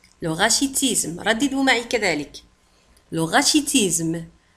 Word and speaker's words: rachitisme: الكساح le rachitisme le rachitisme rachitisme le rachitisme le rachitisme تكتب كذلك ب R A C H I T I S M E وتنطق le rachitisme.